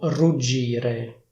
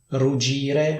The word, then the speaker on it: ruggire: La sesta parola di cui volevo parlare è il verbo ruggire. In questo verbo ci sono 2 G, quindi la pronuncia non è ruggire, ma è ruggire.